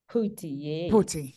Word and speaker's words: Phuti: So how do I pronounce it, Phuti? Phuti, yes, I got it correct.